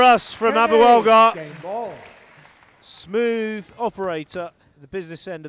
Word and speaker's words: Abouelghar: It's Abouelghar.